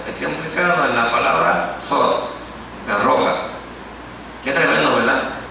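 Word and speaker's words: צור: Y es Petros, no, en hebreo se pronuncia como Sor, T-S-O-R, porque tiene 3 letras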